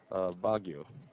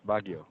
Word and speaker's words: Baguio: We're called Baguio. Hmm. Baguio? Ah, Baguio. Yes. Hmm. So Uh, can I pronounce yeah, Baguio? that's right, Baguio.